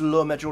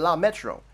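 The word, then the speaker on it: le métro: I said, I know it's Le Metro now, but I said La Metro. Why couldn't she understand La Metro?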